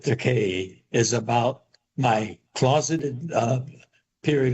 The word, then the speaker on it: Takei: And so this book, it rhymes with decay, is about my closeted period of my life and my life after I come out of that closet.